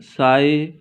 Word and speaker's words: psi: that's truly you know that psy pronounced as s i g h psi it represents the amplitude